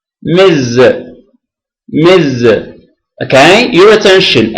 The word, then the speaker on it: Ms: s it is pronounced Miz Miz okay your attention s is pronounced Z Miz Miz so it